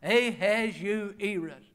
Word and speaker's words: Ahasuerus: It's a little tough to pronounce, and I had to drill on it. Ahasuerus. Ahasuerus.